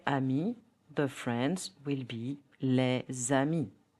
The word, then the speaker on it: les amis: For example, les amis, the friends, will be les amis. D becomes t. grand homme, a tall man. So, the correct pronunciation will be grand homme.